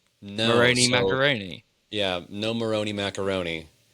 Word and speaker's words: Moroni: Uh it's not it's not pronounced Moroni, unfortunately. I'm so sorry. Not like macaroni. Moroni macaroni.